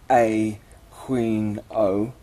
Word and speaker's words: Aquino: He likes his name to be pronounced A Queen O.